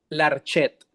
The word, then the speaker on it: Larchet: Eh, miren, se escribe eh en eh ahora sí como se lee aquí en español, Jean. Jean con J. Claude Claude Larchet. Larchet, así tal cual en español.